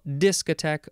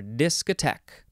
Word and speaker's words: discotheque: time disc attack this you can emphasize the first syllable or the last syllable disc attack or disc attack noun from 1954 and